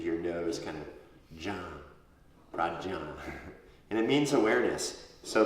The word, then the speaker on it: prajñā: When you say jñā, you kind of put it in your nose. Prajñā. Prajñā. Yeah, it's like you're going to say Janet, but you went Janet.